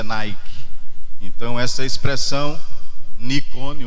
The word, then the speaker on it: Nike: uma de grandes campeões que a gente pronuncia Nike Então essa expressão Nicole